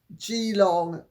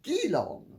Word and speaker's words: Geelong: Thank you to everybody who pointed out to me that I was right to put the Geelong school timber tops in Australia, but I was wrong to pronounce it Geelong because it's evidently Geelong.